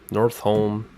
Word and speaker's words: Northome: from hawthorne or thorn north home party pronounced at North home for three Yankee just